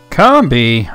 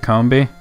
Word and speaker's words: Combee: slashed you pronounce it Combee it's probably convey now I think about it cuz like honey comb comb being yeah makes sense see